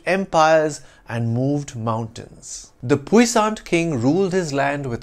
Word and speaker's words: puissant: In French, it's pronounced puissant, with a silent T, though its feminine form, spelt with an E at the end, is pronounced with a soft T sound at the end, puissante. In English, it's pronounced puissante or puissant.